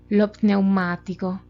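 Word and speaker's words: lo pneumatico: Por ejemplo, lo zio, lo pneumático. Para pronunciar esta de lo pneumático, sugiero que al artículo lo unan con la primera palabra, con la primera letra de la palabra.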